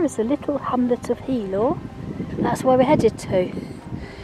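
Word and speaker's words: Healaugh: on a way to, apparently it's pronounced Helor, but it's spelt off anyway. But it's Helor apparently.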